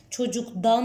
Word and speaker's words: çocuktan: beraber telaffuz edin lütfen siz söylerken çocuktan mı diyorsunuz çocuktan mı diyorsunuz çocuktan değil mi çocuktan demek çok zor orada o daı çıkartmak çok zor çocuk Tan diyoruz E neden çocuk Tan